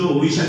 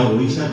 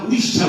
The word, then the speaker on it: ওড়িশা: সেটাই উচ্চারণ করতে হবে। আমরা উড়িষ্যা বলি।